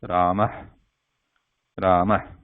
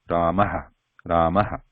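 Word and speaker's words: रामः: The second one is Ramah, Ramah. However, in practical pronunciation, like the practical usage when we talk,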